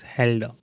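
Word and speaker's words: Hölder: says basically Jordan Helder inequality so we will pronunciate this as Helder so definition and this definition defines composition series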